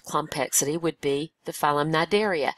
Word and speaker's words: Cnidaria: would be the phm nideria notice the word is spelled with a c in the front but we don't pronounce the C uh this includes jellyfish